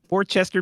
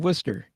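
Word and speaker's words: Worcester: are you talking about it's English people pronouncing things weird it's like Worchester being Worster you think Dean's right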